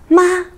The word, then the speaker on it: 吗: Here, 妈 is a question particle and a neutral tone. 妈 Again, Pinyin has five tones, and all the tones are very important as they distinguish different meanings.